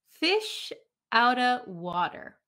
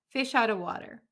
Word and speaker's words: fish out of water: good friends okay so let's listen to the pronunciation fish outta water fish out of water so you can pronounce of clearly if you like fish out of water but when we talk really quickly at a native speed i was a fish